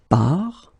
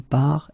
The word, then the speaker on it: part: So the first thing that you get to keep in mind, you get this final S, final T, but then you don't pronounce them. So phonetically, je pars, tu pars, il part, elle part.